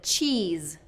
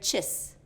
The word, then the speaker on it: cheese: Another example is cheese. Cheese. Instead of that long E sound for cheese, I'm hearing chis. Chis. Chis. Okay? That's just shortening what should be a very long vowel pronunciation. Cheese, cheese, and we just kind of have to hang on those long vowels a little bit.